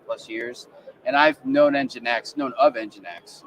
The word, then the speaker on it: nginx: fact that it is if you split it it's engine X so I kind of